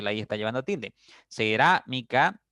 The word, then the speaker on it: cerámica: Cerámica, ra es la sílaba tónica porque está la tilde en la a.